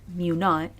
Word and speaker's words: mu naught: Now, when you're writing these hypotheses, what's written as mu sub 0, pronounced mu naught, would be a number.